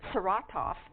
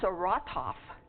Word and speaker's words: Saratov: And when I first went there, I was pronouncing this Saratov, and the village out in the bird site as Frank, and they said 9. That is Saratov, and it is Frank, not Frank.